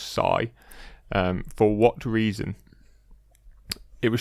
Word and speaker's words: Cy: they pronounce it is spelled CY but it's pronounced Sai for what reason it was short for cyclone